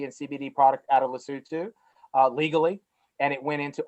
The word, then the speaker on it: Lesotho: It's based in Lesotho, but it's pronounced Lesotho.